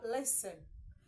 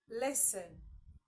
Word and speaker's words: listen: there next we have listen say listen listen Okay the T there is silent all right next we